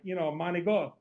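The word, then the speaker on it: manicotti: Well, the same thing as I would pronounce it, like, manigot instead of manicati, right.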